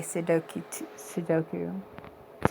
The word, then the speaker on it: Sudoku: My daughter says it's Sudo, Sudo, like do you, Sudoku. I'm like, okay. Yeah, I think I used to say Sudoku too.